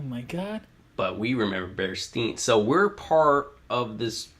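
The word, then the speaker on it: Berenstain: It's spelled Bearstain. Not Bearstein. Wait, so they're not Bearstein? No, they're Bearstain. What? Yeah, so we remember Bearstein. It's Bearstain.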